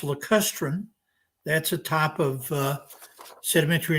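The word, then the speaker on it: lacustrine: help you with your pronunciation here erica it's pronounced le custrin that's a type of sedimentary environment that's assumed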